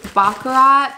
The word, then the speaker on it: Baccarat: but those are good i went to bakarat because bakura baccarat the tea is silent um because i wanted